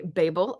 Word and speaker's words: Babel: I want to read I'm gonna say Babel at some point because that's how the Brits say it and Jim says